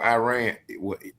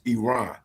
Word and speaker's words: Iran: a land invasion on Iran, I'll be saying it wrong. It's it's Iran.